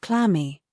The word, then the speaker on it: clammy: Check out the definition of clammy. Okay? So, clammy basically isn't adjective. As you say, the stress goes on the first syllable.